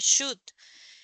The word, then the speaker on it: should: consejos significa debería should la l no se pronuncia se dice should entonces you should eat